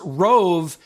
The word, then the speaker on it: Roav: So again, as you're researching dash cams, Rove is on Amazon, and you can spell it.